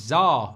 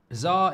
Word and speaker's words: SZA: Czar is pronounced scissor.